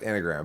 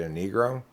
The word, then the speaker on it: Enneagram: normally don't get into at all which is enigram differences yeah it's pronounced enneagram but i i said it in my head when i read the word first i pronounced it a negro it was a long time after i read